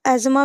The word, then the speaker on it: asthma: अस्थमा को आप एजमा भी बोल सकते हो, इसका प्रोनाउंसिएशन।